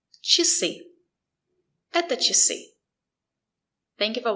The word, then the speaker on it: часы: and it's after sounds sh and sh, we pronounce the letter I as E. Just remember it's short. И. И. Часы.